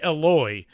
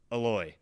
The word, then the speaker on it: Eloy: before the show, and Josh asked him how he pronounces his first name, and he says basically, Eloy. Um, so that's true. And thank you for catching me on that. Aloy. We'll go with Aloy.